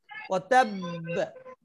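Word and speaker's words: وَتَبَّ: ওয়াতাব, এই বে এটা হলো কলকলা। যদি আমি এখানে ওয়াতাব বলি ওয়াতাব, তাহলে তো এক বায়ের উচ্চারণ হবে, ঠিক পরের এই যে কাসাবের মতো এখানে কাসাব পড়বো, কিন্তু এখানে তো দুইটা বা এবং উভয় বাই সাকিন এবং বাটাই কলকলার হরফ।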